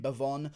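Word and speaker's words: Bevon: with devon lewis here that's actually how you say his name bhavon i'm gonna be going with bavon lewis here getting the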